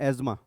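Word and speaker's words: asthma: एज्मा, bronchitis, अस्थमा लिखते हैं, pronounce करते हैं एज्मा।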